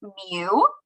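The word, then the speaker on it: μ: So the population symbol is this Greek letter here pronounced mu and that means if we have every single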